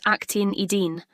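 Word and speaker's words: actinidin: That word is pronounced actin edine.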